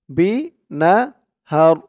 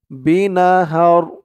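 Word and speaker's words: بِنَهَرٍ: মিম সাকিনে ইকলাব calf মিম পেশ কুম মুবতালিম বিনাহার বি না হার এই হা দিয়ে এখানে র ধরলে যেমন উচ্চারণ হবে উচ্চারণটা এখানে তেমন হবে কারণ এই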